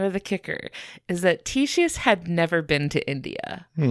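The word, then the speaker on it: Ctesias: His name was Titius, which is spelled with a silent C, which is really weird.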